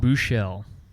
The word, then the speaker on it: Buechele: Buechele.